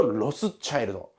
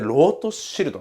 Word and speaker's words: Rothschild: このロートシルトっていうのがですね、いわゆ